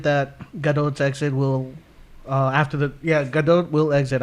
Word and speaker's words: Gadot: Gadot. It's Gadot. There is a T. But it's a big O.